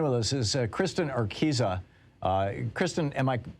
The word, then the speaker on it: Urquiza: on the line with us is uh kristen arkisa uh kristen am i pronouncing your name correctly yeah you have it